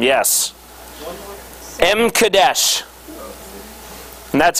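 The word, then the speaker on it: M'kaddesh: actually looked this up this is how you pronounce it but it's not how it's spelled m e k o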